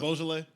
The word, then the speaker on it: Beaujolais: Like listening to and I cannot pronounce the name of that song. You're about to drop half the video. of them. Beaujolais?